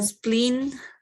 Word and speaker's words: spleen: The Uh, spleen, like E, two E's, like spleen. Yeah. Spleen, like smile, spleen, yeah. Like smiling. That's the correct way of pronunciation when you see two E's.